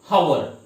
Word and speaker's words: hour: सो यू pronounce like a vowel, not hour.